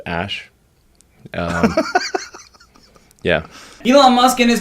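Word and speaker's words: Æ: Just X, the letter X, and then the AE is like pronounced Ash.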